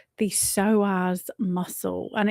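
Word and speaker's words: psoas: So this is all about something called the soaz muscle and it's spelled P s but pronounced soaz.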